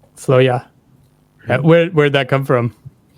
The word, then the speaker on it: Floya: pronounce the band name oh it's basically free to interpret as you please but uh we call it floya floya where where' that come